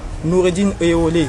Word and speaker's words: Nuridine Oyewole: Notre interlocuteur du jour est un expert consultant en communication, Noureddine Eolé. Bonjour. Bonjour. Je prononce bien le nom, c'est ça?